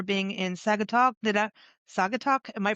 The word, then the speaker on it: Saugatuck: Did I Saugatuck? Am I pronouncing it? Saugatuck.